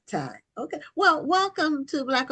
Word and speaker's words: Tiye: So now, is this pronounced Ty Yes, or it's time. okay? Okay, because I didn't know if it was 2 syllables, and so No. I didn't. Okay, it's Ty.